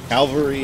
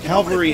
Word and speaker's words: Calvary: alvaree or cavalry i i hate when people get that wrong just like it's not how it's pronounced calvary is where he's here calvary is where jesus died on the cross cavalry is what you